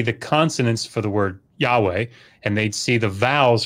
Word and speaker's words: Yahweh: this is debated, obviously, it was probably pronounced in antiquity as like Yahweh or Yahweh, I mean, probably Yahweh with a W, but certainly there's a